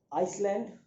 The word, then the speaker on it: आइसलैंड: आइए नोट करिए, चलिए नोट करिए, आइसलैंड, आइसलैंड या इसको आइलैंड भी कहा जाता है, यद्यपि स्पेलिंग ICE है, लेकिन इसको आइलैंड कहना ज़्यादा बेहतर रहता है क्योंकि इसका प्रोनाउंसिएशन आइलैंड आता है।